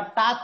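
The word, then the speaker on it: talk: एल E silent letter वाल्क नहीं होता ल्क नहीं होता टाक होता है एल साइलेंट लेटर होता है एल का साउंड आपको नहीं निकाला जाता ये वक टॉक ये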